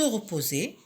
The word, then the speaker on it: repos: Alors, un mot de la famille de repos, se reposer. J'entoure ici la lettre S qui est muette dans le mot repos qui est au masculin.